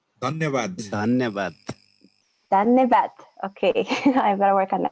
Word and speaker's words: धन्यवाद: धन्यवाद. Anivat? धन्यवाद. धन्यवाद. Dhanyavad.